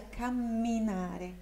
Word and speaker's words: camminare: Ó, lembra da pronúncia da dupla consoante? Nesse caso é camminare, camminare, camminare, camminare.